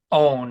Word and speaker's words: On: Asenat's daughter of Potiphar, priest of On, I guess is how it should be pronounced, it's a long O.